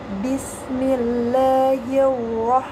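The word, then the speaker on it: بسم الله الرحمن الرحيم: Nah, ro-nya adalah ro tebal atau tafkhim. Maka dibacanya Bismillahirrahmanirrahim, bukan Bismillahirrahmanirrahim. Baik, diulangi. Bismillahirrahmanirrahim.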